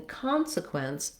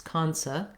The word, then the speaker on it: consequence: like a schwa so instead of con sequence it's kansa consequence that letter e is